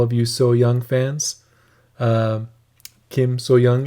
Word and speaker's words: Kim So Hyang: Kim So Young is, I believe, how you correctly say her name.